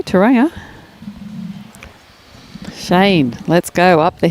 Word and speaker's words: Tauranga: Enjoying from Tauranga in New Zealand. Afternoon, Robert. Hopefully the weather's over there, Robert. It'd be a bit cool, I'd say, Tauranga. Shane, let's go up the hill. Tauranga? Sorry. Tauranga.